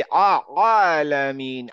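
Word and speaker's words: العالمين: সোজা কথা মনে রাখতে হবে, আইন উচ্চারণ করার সময় আমি একটু মানে ভদ্রতা ভেঙে একটু কষ্ট করে উচ্চারণ করবো, আলামিন, আলাইহিম, আলাইহিম। আলাইহিম আলাইমিন হ্যাঁ, ঠিক আছে। এইটা চেষ্টা করতে থাকেন, এবং মাথায় রাখবেন যে আমি নর্মাল বলবো না, নর্মাল আলামিন না বলে আলামিন।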